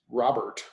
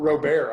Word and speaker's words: Robert: It is Luis Robert. It's not Robert.